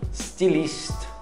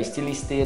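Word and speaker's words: styliste: Ó, começa com S, hein? Não é com E, não. Nem com I. Stiliste. Não é estiliste, não. Stiliste.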